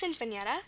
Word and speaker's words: sinfonietta: is an O, because if we ask for the alternate pronunciation is sinfonietta with a long O sound, and the long O sound is always going to be spelled with an O. So again, this just, highlights how important the alternate pronunciations are. It's sinfonietta or sinfonietta, and that can help us figure out that this is an O.